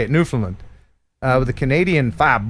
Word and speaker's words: Newfoundland: newfoundland drones and that's how you say it newfoundland uh with a canadian five bucks thank you